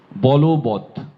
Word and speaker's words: বলবৎ: খেয়াল করি, বল যোগ বৎ যখন হবে তখন এটি ওকারান্ত হয়ে যাবে, উচ্চারণ হবে বলবৎ, বলবৎ। উচ্চারণটি বলবৎ নয়।